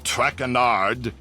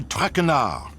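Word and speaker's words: Traquenard: butchered while i eat as for my name not trackanard it is trachenar truckrenard what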